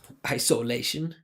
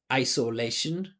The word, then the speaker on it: isolation: This This word is four syllables. So, there's two that are higher, two that are low. There's a primary and secondary stress. So, lei is the primary stress. I is the secondary.